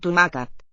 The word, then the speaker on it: tomàquet: And the final T written, reflecting the awak, I think. Nawak, right? Suffix on the noun. Tomaca. And so now silent, that final T.